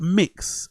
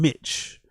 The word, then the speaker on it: Mix: But up Mix and calling him Mitch instead of the mix is just so Brendan coded, isn't it?